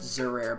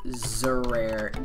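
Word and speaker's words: Xerair: I'm pretty sure it's pronounced Zerare, but shout out to that guy right there.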